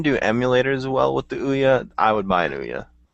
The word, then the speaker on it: Ouya: don't believe in the ouya so it's pronounced ooh yeah yeah oh yeah like